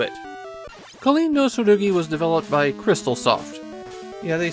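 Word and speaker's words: Xtalsoft: Kindosi was developed by Crystaloft. Yeah, they spell their name with an X and they pronounce that cross, but it's Crystaloft.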